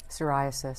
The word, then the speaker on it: psoriasis: r i as s psoriasis sasis it's that patchy skin problem okay sasis I didn't know sasis start with a P well actually you know